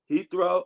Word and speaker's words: Heathrow: How do you pronounce it? Heathrow?